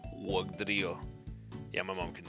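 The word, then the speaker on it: Wugtrio: Oh yeah, so there's a weird T. T sounds like D. Wugdrio.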